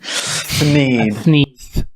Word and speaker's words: Thneed: I was like a God, how do you pronounce it? A Thneed? Thneed.